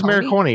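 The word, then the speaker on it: Morricone: Do you know how to pronounce his name? I had I had a Google Maronei. Yeah, it's Maronei.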